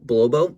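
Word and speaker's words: Bolobo: nice because it's a representative of blowbo blow bow that's how you pronounce his name that's his little nature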